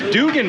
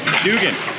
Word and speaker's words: Dugan: And it's Dugan, by the way. Thank you. So I've been saying your name wrong for 3 years, sir. You gotta correct me on this stuff. Dugan. Remember that.